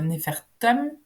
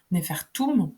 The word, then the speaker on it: Nefertem: dans l'étude du mot nephertum nefertum puisquon peut dire euh ces deux deux prononciations euh et donc après